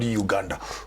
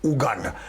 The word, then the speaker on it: Uganda: I just learned how to pronounce it properly today. It's not Rwanda, it's Rwanda, Uganda, not Uganda, Uganda.